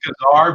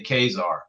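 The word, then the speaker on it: Ka-Zar: our days are yeah i call them guitar but most people i hear say kazaar so i think that's probably the right way to say it oh yeah it's really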